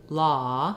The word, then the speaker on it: law: can see that when my mouth goes to law from low it's a little more open so